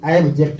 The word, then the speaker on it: abject: ABJECT, ऑब्जेक्ट। ये होता है करेक्ट प्रोनाउंसिएशन।